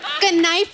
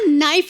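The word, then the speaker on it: knife: कनाइफ नहीं होता नाइफ होता है। के साइलेंट रहता है।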